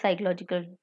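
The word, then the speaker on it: psychological: साइकोलॉजिकल facts, and I know the spelling of साइकोलॉजिकल। मुझे 8th class से ही पता है कि पी साइलेंट होता है।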